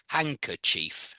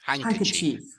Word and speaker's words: handkerchief: but yeah handkerchief and you don't really pronounce the d in h in handkerchief I don't hear a d when I say it hankerchief hankerchief handkerchief and if it's